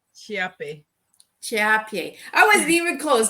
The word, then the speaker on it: Chiappe: wrong hi everyone um it's pronounced chiape Champion I wasn't even